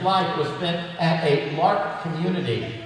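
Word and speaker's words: L'Arche: The last 10 years of Henry's life was spent at a LARC community. It's spelled with the French spelling, A-R-C-H-E.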